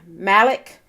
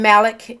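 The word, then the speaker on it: Mallach: have changed um urban researcher and author alan malek alan malek is and malik is spelled m-a-l-l-a-c-h alan malek um offers an overview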